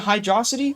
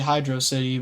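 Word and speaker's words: Hydrocity: Is it Hydroity or Hydro City? It's obviously Hydro City, but you know, it's fun to spark up a debate.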